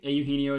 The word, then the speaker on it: Eugenio: I got multiple different people telling me how to pronounce his name in a different way. Last time I went with him, but I think Eugenio is the right way.